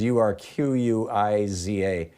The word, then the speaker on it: Urquiza: So Kristen Urquiza, I'm assuming is how it's pronounced, Urquiza.